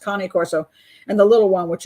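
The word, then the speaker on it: Cane Corso: Shepherds the K Corso Kane Corso I guess it's pronounced cone corso and the little one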